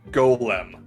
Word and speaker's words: Golem: the One Ring no not Gollum Golem different thing you definitely pronounce them all like Golem whatever regardless uh Golem